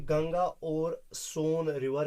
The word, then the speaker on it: Son: एक तो था गंगा और दूसरा था सोन। क्या है? SON, सन नहीं पढ़ना, ये असल में रिवर सोन है, SONE असल में है ये, ठीक है। तो SONE की जो प्रोनाउंसिएशन निकलेगी वही SON की है, सन नहीं पढ़ना बेटा, ठीक है।